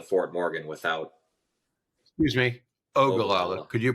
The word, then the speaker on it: Ogallala: think the mini would struggle to get from ogala to Fort Morgan without excuse me Ogallala could you pronounce weird names correctly it's important that's where